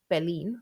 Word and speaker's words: Berlin: For listening, I'd be more cautious, as German pronunciation puts the stress on the second syllable, Berlin und Paris, which might confuse beginner learners with English L1.